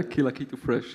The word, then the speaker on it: Kila Kitu Fresh: And in this respect, I mean, Kila Kitu Fresh, do I pronounce it correctly? Kila Kitu Fresh. You're a very hands-on idea. Please tell me about it. Yeah, Kila Kitu Fresh. You pronounce it very well.